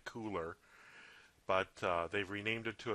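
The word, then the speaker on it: Kuler: be called adobe color spelled with a k-u-l-e-r which doesn't make a lot of sense because i want to say cooler but they've renamed it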